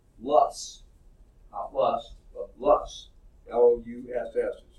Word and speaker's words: loess: it says strange name ello es s is pronounced Loess plus plus ll us estimate sounds like his